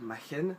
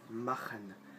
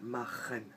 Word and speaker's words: machen: Vous voyez, C-H se prononce R. C'est pas machen, c'est machen. Là, bien guttural, machen.